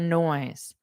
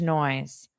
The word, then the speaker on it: noise: weird noise, a strange noise. Now notice the pronunciation of noise. No noise. Ooise. You have this o. So it's really two sounds here. Oise. O E always and then just add the N.